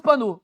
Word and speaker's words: panneau: Quand on prononce le O. Pourquoi on ne le prononce pas? Pourquoi on ne le prononce pas quand bon, bref, c'est les mystères de la langue française. Hein? On le prononce panneau.